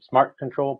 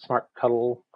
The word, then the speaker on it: smartctl: fired for using them, smart control, part of the smart mon tools project, some pronounce it smart cuddle, some spell it out smartctl, but I'll try to be consistent.